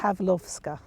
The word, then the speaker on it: Pawlowska: The W's are pronounced as V's. A V. So it's Pawlowska.